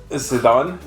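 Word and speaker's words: Zidane: Sidan.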